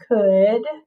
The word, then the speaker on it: could: spelled the same way could and it definitely doesn't look it doesn't look like it says could right uh right so the ou says uh and the l is silent so we need a